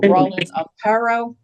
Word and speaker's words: Rawlin Amparo: Um, our first guest speaker is from the Noak Police Department, Community Policing, Officer Roland Aaro. Um, if I'm mispronouncing your name, please correct me.